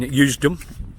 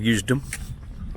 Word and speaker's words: Usedom: Little town, seaside town in Usedom. That's the island of Usedom. Or Usedom, I think it's pronounced in German.